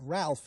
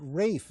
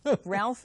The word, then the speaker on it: Ralph: Me too, and I'm so glad that you have the courage to pronounce it Ralph and not Rafe, as so many radio announcers do.